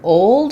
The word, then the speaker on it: old: what we have a question about the word old and whether the L is omitted um so